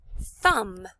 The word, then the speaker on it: thumb: Thumb. My finger and my thumb. There's a silent letter, be careful.